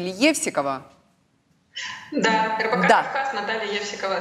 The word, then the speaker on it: Евсикова: Если можно, я боюсь ошибиться в ударении вашей фамилии — Евсикова.